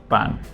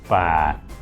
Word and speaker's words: ป่าน: You can't even pronounce my nickname right ป่าน now you do, but before Because I... Sarah: It sounds so like harsh. Brett: It does because it's a low tone.